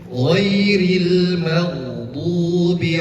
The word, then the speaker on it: غير المغضوب: Tentu jangan juga memantul layaknya qalqalah. Ghairil maghdub. Jangan seperti itu, karena huruf ghain itu tidak memiliki sifat qalqalah. Qalqalah artinya adalah bergerak atau memantul. Maka huruf gha tidak memantul. Cara bacanya ghairil maghdubi alaihim waladdallin.